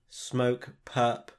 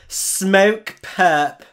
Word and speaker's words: Smokepurpp: not my favorite everything you gotta say how the americans say perp smoke purp smoke purp smoke perk now i